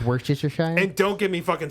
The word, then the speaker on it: Worcestershire: Dude, Firstly, it's pronounced Worcestershire.